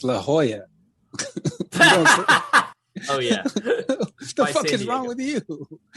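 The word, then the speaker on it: La Jolla: in 1991 he died 91 he died in lala californ what the is Lala California it's La Hoya oh yeah the is wrong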